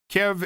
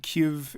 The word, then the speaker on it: Kyiv: Kiev is based on the Russian pronunciation, and Kyiv is the Ukrainian one. Considering it's the capital of Ukraine, I'd say Kyiv is more correct.